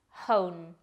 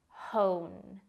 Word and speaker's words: hone: be a little tricky hone we really have to make sure to pronounce the h hone hone is a verb now